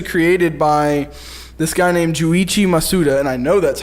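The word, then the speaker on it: Junichi Masuda: that was actually created by this guy named Joe Ichi Masuda and I know that's how you pronounce it I know that's right that works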